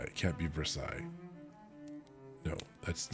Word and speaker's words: Versailles: It sounds like there should be another syllable in there. You're saying it's ver and then you're sighing. Like, damn it, Sid, it's just ver. It has to be Versailles. Versailles. It can't just be sigh.